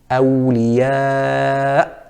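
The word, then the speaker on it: أولياء: So for example, the correct pronunciation is awliya, awliya. It would be incorrect to say aw.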